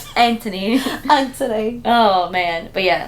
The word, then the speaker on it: Anthony: they call they say Anthony Anthony they don't really pronounce the h they're like there's no th here Anthony an oh man but